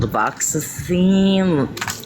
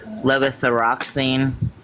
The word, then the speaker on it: levothyroxine: Levoxazine? I can't. There's an R in there, but I can't pronounce it. Levothyroxine.